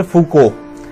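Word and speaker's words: Foucault: फिर है माइकल फूको, ये TL साइलेंट है, माइकल फूको।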